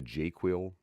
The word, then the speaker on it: JQL: Um, the jQuil, this is how I pronounce JQL or Jira query language.